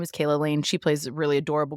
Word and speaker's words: Calah: I looked up how to pronounce that because it is not spelled the way you think it should be. Calah.